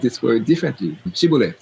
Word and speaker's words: shibboleth: Shibboleth. Some said shibboleth, the other ones say siboleth. It's s versus a sh.